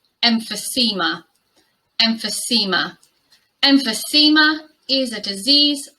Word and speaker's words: emphysema: Another subscriber request, this word is pronounced emphysema.